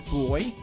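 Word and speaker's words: Buoy: And then there's Boy, which is spelled B-U-O-Y, which is a digital assistant you can chat with about your symptoms in order to make better diagnoses of yourself.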